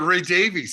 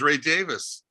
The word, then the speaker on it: Davies: all the time obviously how about ray davies he says my name is ray davis yeah they don't do ray davies in england now keep in